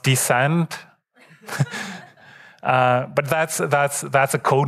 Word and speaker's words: DSCD: Should be pronounced Descent.